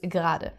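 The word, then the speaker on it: gerade: the word gr gr so you can see there is an e in the word but it's not actually pronounced so everyone always says gr so I am eating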